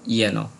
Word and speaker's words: যেন: এরপর আমরা আরও আছে যেন না বলে বলবো ইয়েন, যদা যদাহি না বলে বলবো ইয়দা ইয়দাহি।